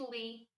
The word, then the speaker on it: Lei: no middle name oh yeah it's Lee how do you spell that l e i not the not the